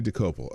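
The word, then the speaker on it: Dokoupil: Dokupil. Dakupil. Not bad. You got the syllables right. Dokupil. Decopel, close. I'm Tony Decopel. I work for... Tony Decopel. Okay, that's how you say his name.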